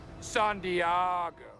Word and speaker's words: San Diego: It's actually pronounced San Diego.